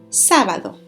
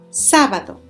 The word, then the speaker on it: sábado: Next one, Saturday is sábado. Sábado. Remember that the vowel where you see that little accent drawn on top, that means that syllable is stressed.